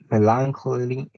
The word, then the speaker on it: melancholy: four please okay um the stresses plays at the beginning like in alligator correct in the first syllable right and i have melancholy melancholy is a sad